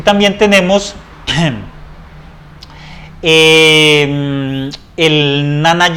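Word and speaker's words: Jnana: Y también tenemos el Nana Yoga, ¿sí? Es más o menos así como se pronuncia, que tiene que ver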